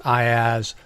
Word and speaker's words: IaaS: The first three are pronounced IaaS, PaaS, and SaaS.